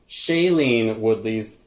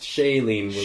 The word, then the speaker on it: Shailene Woodley: How is it pronounced? Shailene Woodley. Shailene? Mm-hmm. How have we been pronouncing it? I've been saying Shailene Woodley.